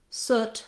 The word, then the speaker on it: soot: two o's is that we do have a word soot that is spelled that way which doesn't have the u pronunciation so moving from our